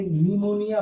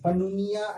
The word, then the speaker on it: pneumonia: जैसे PNEUMONIA, इसे निमोनिया पढ़ते हैं, पनुनिया ऐसा कुछ नहीं पढ़ेंगे।